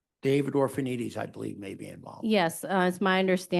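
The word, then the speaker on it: Orphanides: Orphanites. The last name is spelled O R P H A N I D E S.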